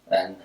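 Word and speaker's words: 安: And some more things do require some imaginations.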